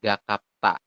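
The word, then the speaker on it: 갑갑다: nah ini ya gakapda tapi nanti di aturan baca ini dibacanya adalah ta betulbnya seperti ini gakapta kayak gitu ya Kenapa kok jadi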